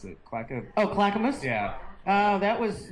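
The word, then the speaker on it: Clackamas: in how how do you how do you pronounce it CL oh Clackamus yeah oh that was not till 93 I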